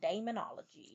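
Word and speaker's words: Daemonologie: authored a book called Demonology, which spelled demonology. Oh, demonology. D A E M O N O L O G I E.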